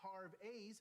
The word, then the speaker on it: Harvey's: Actually, it's pronounced Harvey's with a Canadian EH.